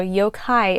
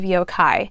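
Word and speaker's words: yōkai: So yokai is how it's pronounced, I believe.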